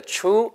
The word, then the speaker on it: truth: 그러니까 Can I tell you the truth?